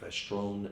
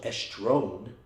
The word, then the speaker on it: estrone: It should be called estrogens because you have estrone, estradiol, estriol, right? So estrone, and it's kind of easy to remember. Just think estrone, one, sounds like one. Oh, actually spelled the same way, O-N-E, but estrone, right?